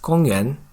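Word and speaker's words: 公园: The Chinese word for park is 公园, whereas in Korean, the same word is pronounced 公园.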